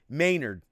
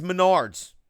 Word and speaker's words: Menards: will see it cause he says it's pronounced Maynard Maynard save big money it maynard's now they yelled at me they said it's Menards I should know it's